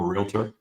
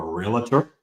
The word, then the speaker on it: realtor: Um, I'm a realtor. Some people down south here, they like to call me a realtor. Um, but it's two syllables.